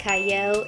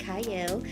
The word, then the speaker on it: Qiayel: I am your host cyle it is spelled with a q but it is pronounced cyle and today I have